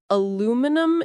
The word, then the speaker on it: aluminum: And in the US we say aluminum, shorter and simpler.